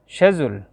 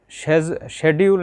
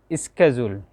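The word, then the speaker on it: schedule: তাহলে আসুন, শেজুল, এটা শেজুল, এটা শেডিউল না, এটার উচ্চারণ হবে শেজুল, মানে তালিকা, সময়সূচি। শেজুল অথবা শেজুল আছে ইউকের উচ্চারণ, ইউনাইটেড কিংডমের। আপনি যদি আমেরিকান অ্যাকসেন্টে উচ্চারণ করেন, এটা হবে স্কেজুল, স্কেজুল।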